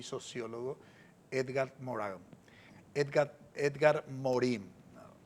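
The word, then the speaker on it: Edgar Morin: Edgar, Edgar Morim. Pronunciamos a veces en francés porque en en el ámbito académico se exige pronunciarlo en en su idioma.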